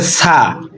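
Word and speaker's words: ث: তারপর রয়েছে সা। আমরা অনেকেই কিন্তু সা উচ্চারণ করতে জানি না, সা কিন্তু উচ্চারণ করতে হবে স্পষ্টভাবে, সা সা।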